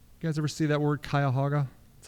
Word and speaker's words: Cuyahoga: Cleveland resides, you guys ever see that word Cuyahoga? That's how you pronounce that.